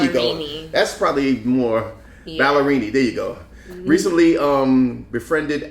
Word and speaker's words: Ballerini: Let's go with Ballerini. Ballerini. There you go. That's probably more Ballerini.